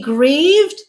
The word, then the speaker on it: grieve: And in terms of what they sound like, the only difference is that sound at the end, whether it is voiced, v, or it is unvoiced, f.